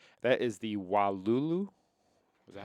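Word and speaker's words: Wailulu: That is the Wulu. Is that how you say it? W A I L U L U B. Yeah. W Lulu.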